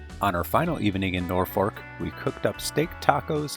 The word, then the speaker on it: Norfolk: we were off to Norfork Nebraska where we'll spend four nights at a city park looking great well nor folk but they seem to pronounce it nor Fork Nebraska and this is a